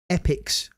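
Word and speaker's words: Epyx: Data East again versus a company called Epics and it's spelled E P YX. This is in 1988. So Epics made Temple of Appshy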